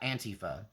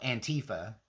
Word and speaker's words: Antifa: And u I know y'all call it Antifa, but the way they pronounce it uh for themselves is Antifa or Antifa. And so I do pronounce it the way that the people involved actually pronounce it, right?